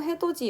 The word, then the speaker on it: 해돋이: 그리고 마지막으로 해돋이 역시 해돋이가 아니라 해돋이하고 이렇게 바뀌어서 발음이 나고 있어요.